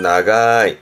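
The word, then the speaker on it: 長い: 길다라는 의미의 발음은 나가이, 나가이, 길다는 뜻이죠.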